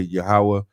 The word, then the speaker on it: Yahweh: Lord, he said Yohed Wave. We would say Yahweh, and we would spell it Yahweh, Yahweh.